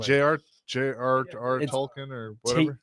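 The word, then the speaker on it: Tolkien: so there's that we're done tolken listen Joe pronunciation is not my strong I'm just making sure I heard it correctly Jr Jr tolken or whatever t o l k i n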